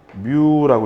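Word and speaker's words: μ: 얘를 여러분 마이크로라고 읽으시면 안 되고, 얘는 어떻게? 뮤라고 읽어주셔야 돼요. 뮤.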